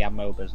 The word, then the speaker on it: amoeba: Excuse me, did you just call them amoebas? How do you pronounce it? Amoeba. You know, that's the correct way. No, I say amoeba. I'm from Yorkshire, I can do what I want.